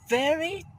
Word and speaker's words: very: When you pronounce V, your mouth is a little bit open. Not round, not like that. Very, not like that. It's wrong. It's right. You have to pronounce very, very, very.